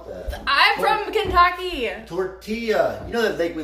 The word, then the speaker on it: tortilla: Tortilla. What? Kiev? Kiev, that's how you pronounce it? Kiev. Tortilla, not tortilla. They were shitting on me last time because I kept calling it a tortilla.